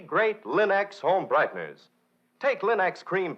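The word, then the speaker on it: Linx: Remember, Linex is spelled L-I-N-X, Linex.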